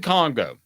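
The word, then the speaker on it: Kongbo: Am I pronouncing it? Jonathan Congo. Yeah, Jonathan Congo.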